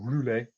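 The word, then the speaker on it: Roulers: could capture that at Rousselara, or Roulé as it was known, if you're going to do the French pronunciation, then you could effectively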